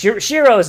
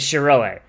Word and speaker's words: Shiroe: it as Shiro because Shiro's name like I call him Shiro but in universe his name is Shiroe fuck it that's I'm just stupid and pronouncing it wrong as a joke and